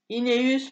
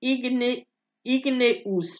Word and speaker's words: Igneus: Ineus, prononcé Igneus, pardon.